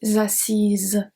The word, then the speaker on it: assise: Je me suis assise, z. Here we have the Z sound at the end because we have the E.